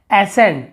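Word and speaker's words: ascend: यहाँ पर भी देखिए एसेंट, एसेंट यानी होता है चढ़ाई, एसेंड, एसेंट, लेकिन यहाँ पे सी का उच्चारण कहीं पे नहीं हो रहा, हम स का उच्चारण कर रहे हैं।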